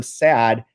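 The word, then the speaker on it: sæd: This is because the Norwegian word for sperm, sad, is pronounced like the English word sad.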